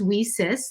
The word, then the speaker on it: WiCyS: go by our acronym wheesus w-i-c-y-s and it's pronounced we cis like we sisters because that's exactly what